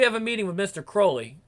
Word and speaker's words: Crowley: We have a meeting with Mr. Crowley. Rhymes with Fowley. Unlike dear old Alistair, who was holy. Right. Okay. Yeah, remember, it was Crowley, even though Ozzy said, Mr. Crowley, it's Crowley.